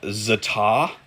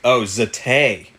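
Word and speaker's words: za'atar: Zatay. Oh, it's Middle Eastern, so it's pronounced zatay.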